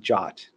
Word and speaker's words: JWT: on JSON web tokens typically pronounced jot and spelled JWT for short so how do you